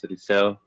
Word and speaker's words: Eliseo: My name is Eliseo.